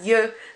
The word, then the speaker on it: yeux: Rather than an X or X or anything like that, you do not pronounce that X at all. So it would be heureux, cheveux, and yeux.